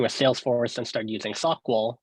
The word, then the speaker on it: SOQL: To me, like SQL, I pronounce the Q. So SOQL, I pronounce the Q there as well.